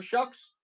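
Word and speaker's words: Shough: rookie quarterback, Tyler Shucks, last name spelled Tyler Show, pronounced Tyler Shucks.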